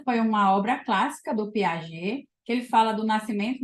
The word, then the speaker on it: Piaget: E o primeiro deles que eu trouxe aqui é o Jean Piaget, ou Piaget, como algumas pessoas pronunciam.